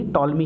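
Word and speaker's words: Ptolemy: आंखें Claudius टॉलमी ही टॉलमी है तो यहां पर साइलेंट है इसको पॉज इंस्टॉलमेंट सर्वप्रथम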